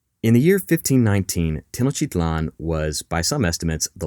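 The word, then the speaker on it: Tenochtitlan: capital of Tino chlan now you'll hear a few different pronunciations for the name of this city sometimes people say tinan Orlan but we're going to go with Tino chitlan because frankly it rolls off the tongue better in the year 1519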